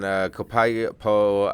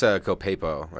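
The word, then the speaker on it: Copiapó: Yeah, I think it's Copiapo is how it's pronounced. Copiapo, Chile? Yeah, Copiapo, yeah.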